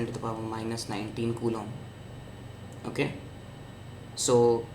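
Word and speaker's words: coulomb: The charge of one electron is - 1.6 into 10 ^ -19 kum. Okay. Kum is the SI unit of charge. This is how you spell it.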